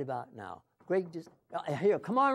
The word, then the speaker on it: Grigg: Who is Grigg Designs?